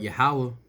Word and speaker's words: Yahawah: in jerusalem the lord yahweh shall uh the lord allah also shall serve the tense i'm sorry i hate saying his name wrong the lord yahuwah also shall save the